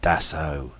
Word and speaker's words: Dassault: granted the first contract to manufacturers Airbus and Dassault to jointly develop the first. The what? Sorry. Dassault. Dassault. Oh, Yeah, right. yeah. Oh dear.